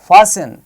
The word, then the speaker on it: fasten: Whistle, rustle, fasten, bristle, catch. The speciality of these words is that in all these words we have T written there. But when we are speaking, we are not pronouncing T.